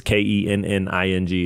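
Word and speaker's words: Koenning: It's Kenning is how it's phonetically. Kenning. Yeah, but there's an O in there. Don't I know that's what makes it so tricky.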